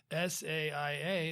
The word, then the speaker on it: Saia: you know, ever since I started working in the logistics industry, I did learn how to pronounce the name, which was I just didn't know how. Saia. It's beautifully pronounced.